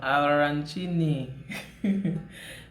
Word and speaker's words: arancini: It's an Italian dish and it's called arancini. It's pronounced with the roll of the tongue, arancini.